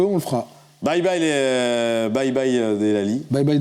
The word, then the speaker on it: Delali: Bye bye Delali. Bye bye Delali. Ouais. On prononce bien, c'est très bien.